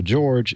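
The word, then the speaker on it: Jorg: George like mine except it's spelled j o r g but it's pronounced George in English and his last name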